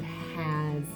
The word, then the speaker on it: has: Oh, the word as is in the word has. As, has. And that S likes to make a Z sound in as.